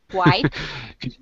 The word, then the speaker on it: quiet: Look at the way the word is spelled. And say it again. Quiet.